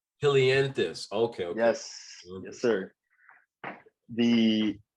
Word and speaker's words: helianthus: poetry book an old song yes am i pronouncing it right i'm not sure if um so yeah it's ode to helianthus hilianthus okay yes yes sir the helianthus is the